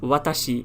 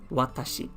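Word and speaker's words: 私: i and you write it like this it's pronounced as watashi and i think everyone knows what it means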